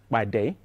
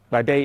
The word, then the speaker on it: Pàdé: new software project called Pàdé. Now, Pàdé is a Yoruba name. And when you pronounce P in the Yoruba language, it has to sound explosively.